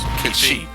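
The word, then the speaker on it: Cait Sith: But anyway, yeah, that's the in Kachi's profile says Kate Sith, but on the right of it gives us the pronunciation of the name, which is Kachi. But it's Gaelic. It's not. I know. Not the same thing.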